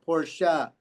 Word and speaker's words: Porsche: It's 2 syllables, people. 2 syllables. Porsche.